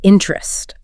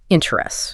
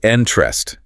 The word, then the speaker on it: interest: all in checking is interest. Yes. And let's just clarify for everyone listening, native speakers almost always pronounce that word as two syllables. Right. They don't say interest. Exactly. It's interest.